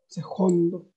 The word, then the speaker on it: jondo: esta gran, es como esta pronunciación muy españolizada, ya desde atrás, muy velar, ese jondo, ¿ya?